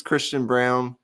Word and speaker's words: Christian Braun: He says it's Christian Brown. Some say it's Christian Braun.